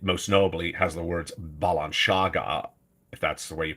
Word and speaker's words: Balenciaga: images that's how horrific they are what is Balenciaga balanciaga if I'm pronouncing it right is a fashion house and